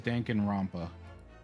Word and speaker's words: Danganronpa: Oh, so it is Danganronpa.